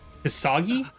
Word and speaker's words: Hisagi: inflict so much damage Shu I think it's shui you pronounce it hisagi oh boy that's RI